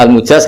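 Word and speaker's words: المجاز: Bacanya al-mujaz karena dari fi'il madhi ajaza.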